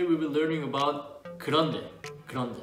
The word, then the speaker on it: 그런데: 그런데 sounds like grande. Grande when you order grande size in Starbucks.